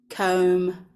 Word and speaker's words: comb: therefore we know that the B is silent so knowing that how would you pronounce these words you can pause now um and then we will have a look at how we pronounce them um when you press play okay